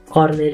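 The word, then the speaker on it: colonel: कोलोनेलको spelling KOLONEL छ र यसको उच्चारण कर्नेल भन्ने हुन्छ।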